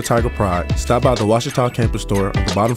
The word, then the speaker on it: Ouachita: Is it pronounced Oakita? Searching for Ouachita Baptist University. Back in Texas, everybody pronounces it Wichita, but really, it's Ouachita.